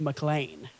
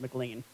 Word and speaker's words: McLean: whenever I lived in Virginia is that's actually pronounced mlan oh really like Joe mlan yeah it's not pronounced McLean oh well they pronounce it mlan for some